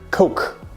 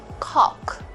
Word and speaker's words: Coke: 예로 of embarrassing pronunciation mistakes is the word 'Coke'. 창피한 발음 실수를 하게 될 수 있는 'Coke'라는 단어가 있죠 - Please gimme cock.